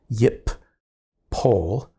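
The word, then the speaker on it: יִפֹּל: So really, for purposes of pronunciation, this is yip pol, because that doubling dagesh has resulted in two versions of the p.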